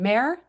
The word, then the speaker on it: Maehrer: I was so impressed you pronounced it correctly because naturally people pronounce it wrong all the time because there's three e in a word that's like two syllables. Actually, it's one mare. That's one syllable.